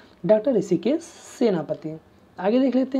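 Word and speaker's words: Hrushikesh: देखिए दोस्तों यहाँ पर ऋषिकेश को इंग्लिश में इसी तरह लिखा जाता है, एच साइलेंट यहाँ पर होता है, आप कन्फ्यूजन में मत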